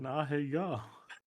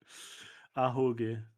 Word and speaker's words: Ahoge: That's an Ahegao. Ahoge.